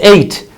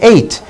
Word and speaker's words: eight: 3 2 4 7 look at eight we say eight but we don't pronounce this G and H we don't pronounce it we say eight so these are the